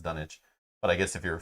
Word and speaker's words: Dunwich: to for dunwich horror said dunwich when the narrator narrator spoke and done itch when people from the town spoke hope that helps hello